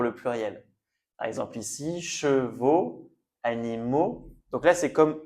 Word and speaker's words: chevaux: Donc on prononce toujours le son sans rajouter s'il y a une lettre à la fin, on ne la dit pas.